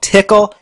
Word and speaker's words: Tcl: a Nifty scripting language it's also called tickle you know we've come full circle with some pretty corny pronunciations and usages when you refer to TCL and TK together often